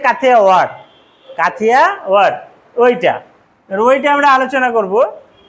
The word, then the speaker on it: কাথিয়াওয়াড়: কাথিয়াবাড় আমরা বলি, কিন্তু অ্যাকচুয়াল উচ্চারণ হচ্ছে কাথিয়াওয়াড়।